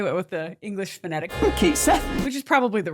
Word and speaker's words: Cait Sith: And it turns out they went with the English phonetic Kate Seth, which is probably the right move honestly. Like if you're going to spell it Kate Sith and call it Ketchy, you're going to confuse like everyone who speaks English.